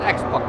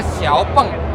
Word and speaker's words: Xiaopeng: Tapi sebenarnya kita salah menyebut Xpeng karena Kenapa? Hello, I'm Xiaopi. Artinya ini- bacanya Xiaopeng. kan ini Xia, bukan X.